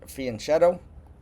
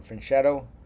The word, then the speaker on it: fianchetto: B2 to B3 and fianchetto or finetto there people pronounce that were different ways to The Long Dark